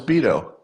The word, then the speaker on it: Beto: forget is it is it BTO oh it's Beto is it veto beo vetoo and then you'd be mispronouncing his name apparently I've been Mis pronouncing